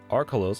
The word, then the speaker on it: Archolos: In the word Archolos, however, the stress on the syllable R may also have historical connotations, as the name of the island was once devoid of the prefix arch.